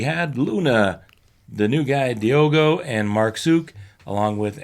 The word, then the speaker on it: Diogo: And it is a D sound for the Diego, though. It's supposed to be Joe with the G.